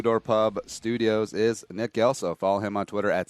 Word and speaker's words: Gelso: Pub Studios is Nick gelo follow him on Twitter at clns nick uh Nick thanks I I start I got to start you again it's gelo spelled with a G pronounced with a J everybody does it you